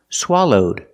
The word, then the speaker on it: swallowed: can happen happen and the verb swallow in the past swallowed with a D sound swallowed link The Sounds